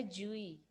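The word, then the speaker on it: GUI: और इसे क्या प्रोनाउंस किया जाता है यह प्रोनाउंस किया जाता है जुई है ना मतलब ग्राफिकल यूजर इंटरफेस अब ग्राफिकल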